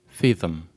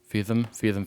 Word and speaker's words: Feetham: Until 1767, when William Feetham, remember that name, write that down, boys and girls. William Feetham. Thank you, William How do you spell it? William, Feetham.